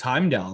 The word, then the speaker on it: Heimdall: So we're going to go for the, now is this pronounced Heimdall or Heimdall? It's Heimdall, my friend.